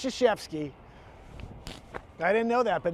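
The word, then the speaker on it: Krzyzewski: It's Crics. No, it's Shashevsky.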